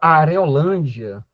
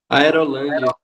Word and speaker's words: Aerolândia: A própria Areolândia, tô pronunciando correto, né? Are, é isso mesmo. Areolândia. Are. Ai, meu Deus. Tá correto? Aerolândia. Aerolândia. Sabia que tinha alguma coisa aí que tava errada.